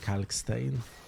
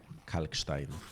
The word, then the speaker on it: Kalkstein: Sometimes I call him Kalkstein, the German pronunciation, and I think that is his name. And sometimes I say Kalkstein, and that's how he would be pronounced in Polish. But I think he's called Kalkstein, like the limestone.